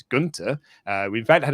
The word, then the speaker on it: Gunther: pronunciation they're going with i know the correct pronunciation is gunter uh we in fact